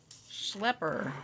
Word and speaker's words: schlepper: Schlepper. That's a good one. Pronounce schlep to rhyme with hep. And schlepper to rhyme with pepper.